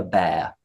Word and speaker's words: bear: And then the final one is bear, bear, polar bear, grizzly bear, teddy bear. And it sounds like hair.